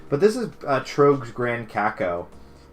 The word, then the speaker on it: cacao: But this is Trogs Grand Cacao. Cocoa? I mean, it's not cocoa, it's cacao. I guess that's how you pronounce it.